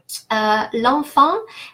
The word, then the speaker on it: l'enfant: L'enfant, EN and AN, on. They're both nasal A, l'enfant. They're both pronounced the same way, and they're nasal because they're followed by a consonant.